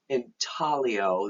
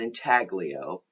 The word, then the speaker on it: intaglio: processes you need to be clear about relief intaglio that's the way that's pronounced not intaglio and plena graffiti so let's go through them